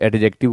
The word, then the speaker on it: adjective: एडजेक्टिव D silent है। जब भी डी जी डी जे यह एक साथ आते हैं तो डी का प्रोनाउंसिएशन नहीं किया जाता है। तो आप एडजेक्टिव ना कहें आप एडजेक्टिव कहें।